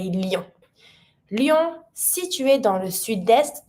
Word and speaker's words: Lyon: Careful with the pronunciation on this one. We say Lyon.